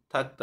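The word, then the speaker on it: 닦다: এটা ত এর মত ত আর থ এর মাঝখানে যে উচ্চারণটা হয় এরকম উচ্চারণ হয় থাকতা ইরুল থাকতা মানে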